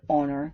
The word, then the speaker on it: honor: n an hour an honor so if the H is not silent a history a home if the H is silent an hour and honor this is what you